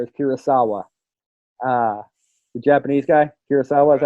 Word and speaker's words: Kurosawa: The Japanese guy, Kurosawa, is that how you say his name?